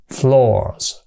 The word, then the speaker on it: floors: Rồi số nhiều của nó là thêm chữ s vô và phát âm là chữ z, floors.